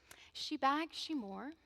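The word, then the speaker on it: Sí Bheag, Sí Mhór: bags she more and it's spelled actually SI b h EA g SI MH o r so it definitely if I was to say it the way it's spelled it wouldn't resemble one or the other I'd like to dedicate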